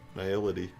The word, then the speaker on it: Nihility: Nihility, like nihilism. Nihility, Infinite Teeth, which is Infinite Teeth.